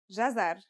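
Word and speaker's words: جزر: it should be easy it's pronounced jazar and means carrot the gym is connected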